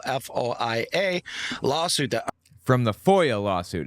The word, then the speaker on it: FOIA: lawsuit that from the Foya lawsuit it's Foya not foia the dude doesn't even know how to pronounce it it's a foyer